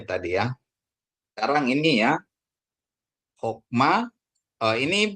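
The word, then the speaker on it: חָכְמָה: Berarti hokma, bukan hakma ya Bapak Ibu Saudaraku, ingat ya.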